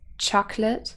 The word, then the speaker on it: chocolate: and then of course chocolate has two syllables and the main stress would be on the first so the nucleus is